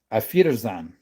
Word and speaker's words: Auf Wiedersehen: Auf Wiedersehen. Auf Wiedersehen. It almost sounds like you're saying my feet are in sand.